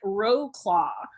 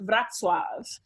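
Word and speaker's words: Wrocław: germany the city on the map looks like roe claw but it's actually pronounced vratswag so it was a really cool town when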